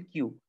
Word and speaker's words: queue: কিউ উচ্চারণ হচ্ছে কিউ। এখানে যে শব্দটা দেখতে পাচ্ছি কিউ ইউ ই ইউ ই, এটার উচ্চারণ হচ্ছে কিউ।